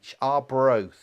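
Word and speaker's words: Arbroath: spell it for you okay sorry if my pronunciation's not very good a-r-b-r-o-a-t-h are bros um smokey so what fish is traditionally used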